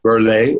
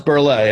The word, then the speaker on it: Burl: great guy dolph burl berley is the pronunciation even though it's spelled burl uh so i can't say it's not milton berle it's berley okay well yeah and